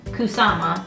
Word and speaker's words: Kusama: DOS on the same I taught myself Kusama like Obama so but just in